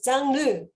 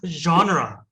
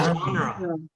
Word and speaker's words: genre: Tim, how to pronounce 장르? Sorry. I thought you were speaking Korean. So genre. 뭐? Genre. 장르. 장르 아니래. 뭐라고요? 다시. Genre. Genre. 프렌치에서 왔기 때문에 영어 발음하고 또 달라요.